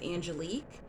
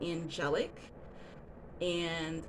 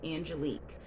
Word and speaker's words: Angelique: So my name is Angelique, but it's not spelled the French way, Lique, right? So it's spelled angelic. And a lot of people